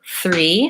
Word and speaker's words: three: three and pronunciation yes so three starts with the th which is this sound